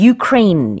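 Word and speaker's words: Ukraine: 암 우크라이나의 전했다는 뜻이죠 우리는 이제 우크라이나 라고 하는데 영어로는 u 크레인 이라고 해요 그래서 발음도 좀 다릅니다 이화수 persons k-water stein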